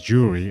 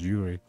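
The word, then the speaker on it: Juri: jury Yuri I said Yuri I don't know it's they pronounce her as jury I don't know I thought it was Yuri Chong Li can Gail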